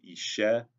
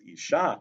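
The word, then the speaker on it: אשה: The word Ishe is spelled in Hebrew exactly the same as the word Isha. So if a Torah reader says Isha Reach Nichoach Lashem, which would mean a woman, a pleasing gift of a pleasing odor to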